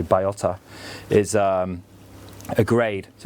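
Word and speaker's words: bellota: So Baiota, it looks like it's spelled Balota, but it's actually Baiota, is a grade.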